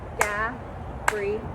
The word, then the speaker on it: Gabriella: So I'm going to say Gabriella. That's 4 claps. That's 4 syllables.